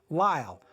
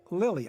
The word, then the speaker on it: Lyle: Then in Red Noses with Thelma Todd and Zazu Pitts, you can hear Blanche Payson pronounce her name Lyle, rhymes with smile. Her name is not Lily.